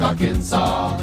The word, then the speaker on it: Arkansas: also in Little Rock Arkansas it ends with an s but don't say it boy when mentioning Springfield